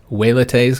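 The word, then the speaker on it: velites: line was called the velates some pronounce it waylette's because i think the i think the v is supposed to be pronounced with that w sound but i think most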